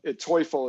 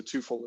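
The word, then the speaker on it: Teufel: the meaning is actually ilka would know but toyful is actually i guess the real pronunciation but um they changed it at some point a long time ago and so twofold is the way it's pronounced our americanized version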